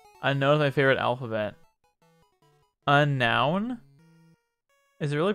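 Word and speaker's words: Unown: know my favorite alphabet a noun is it really pronounced unknown i've always pronounced them unknown a noun is it really pronounced a noun i've said unknown my entire life what i mean i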